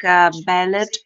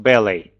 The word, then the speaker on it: ballet: all over the world for its literature music ballad architecture architecture and for part one that's enough because you'll be stopped here uh this word that i have written in the chat is pronounced ballet uh-huh uh the rest is brilliant yeah um